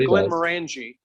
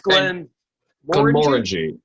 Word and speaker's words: Glenmorangie: Yes, I always said Glenmorangie, but it's Glenmorangie. Yeah, so emphasis is on the second syllable.